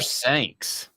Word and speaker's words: Sanks: Rhymes with Banks. Speaking of James Banks, was a big, huge bust because of his own ego. Jasper Sanks.